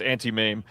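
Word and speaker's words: Auntie Mame: It is pronounced anti-mame.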